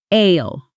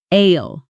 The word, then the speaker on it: aisle: Ale. Ale. This word is spelled a i s l e. But we don't say the s.